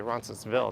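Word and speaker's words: Roncesvalles: by on it although some locals just say roncesville they don't pronounce the at the end foreign shows what I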